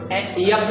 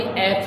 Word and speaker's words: F: यफ नहीं बोला जाता बल्कि एफ ही बोला जाता है।